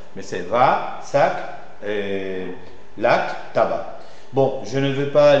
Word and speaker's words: tabac: lac lac tabac tabac tabac là le C c'est une exception ça ne seit pas mais c'est va sac l'AC tabac bon je ne veux